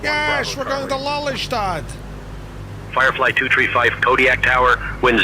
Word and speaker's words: Lelystad: It's pronounced Lelystad.